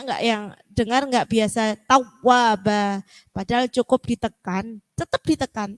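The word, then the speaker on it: تَوَّابًا: Kalau tawwaba itu kan seperti terputus. Tawwa, ditekan tapi tetap mengalir. Innahu kana tawwaba, tawwa, ditekan tapi mengalir, tawwa. Nah, masih banyak yang bacanya innahu kana tawwaba. Nah, benar ditekan, cuman itu ada terputus. Jadi harus mengalir. Innahu kana tawwaba. Jadi ditekan tetapi harus tetap mengalir.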